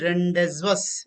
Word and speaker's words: rendezvous: v o u s if you go by spelling you tend to think that okay you tend to think that what you're trying to think it is rendezvous it is d